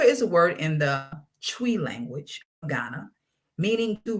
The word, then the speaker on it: Twi: So SANKOFA is a word from I believe it's a Twi, it's pronounced Twi language of Ghana, meaning to retrieve, right?